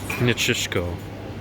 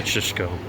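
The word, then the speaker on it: Nikšićko: We asked them how to pronounce it, but I wouldn't even know how to pronounce it. Nitschishko. That's it? Okay. Nitschishko, yeah.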